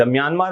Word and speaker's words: Myanmar: तो म्यांमार जो है वो हिंदी में हम कहते हैं, इसका प्रोनाउंसिएशन है म्यामा। म्यामा इसका है प्रोनाउंसिएशन, पहले इसे बर्मा के नाम से जाना जाता था, आपको जानना चाहिए।